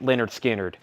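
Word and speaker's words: Lynyrd Skynyrd: is a vg copy for 9.99 leonard skinner pronounced leonard skinner he has 34.99 pronounced leonard skinner 34.99 wow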